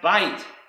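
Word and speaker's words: בַּיִת: Another word can be found is pronounced bait, and this is the meaning of the Hebrew word for house, a bait.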